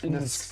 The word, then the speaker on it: NSK: It's pronounced Nisk.